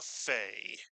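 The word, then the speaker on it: פ: And lo and behold, when you take the doug h out of the pay, it is pronounced as the English letter F. And we tend to call this pay a fay.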